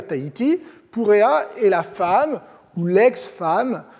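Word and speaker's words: Purea: Les relations deviennent même franchement cordiales lorsqu'entre en scène une femme puissante nommée Purrea, s'écrit P-U-R-E-A, Purrea, qui de toute évidence est revêtue d'un grand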